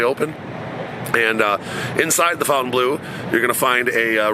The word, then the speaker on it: Fontainebleau: the Fontaine Blue the fountain blue some people pronounce it one way I pronounce it Fountain Blue that's basically uh the